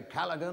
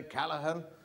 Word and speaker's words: Callaghan: It's Calla with an H, not Calla with a G, cause Calla with a G goes G, not H.